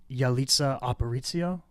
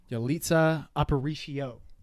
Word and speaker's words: Yalitza Aparicio: I think it's pronounced Yalitza Aparicio, but I might be wrong. Yalitza Aparicio.